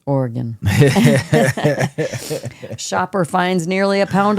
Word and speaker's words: Oregon: Oregon shopper finds nearly a pound of marijuana in a bin at where you at bin discount.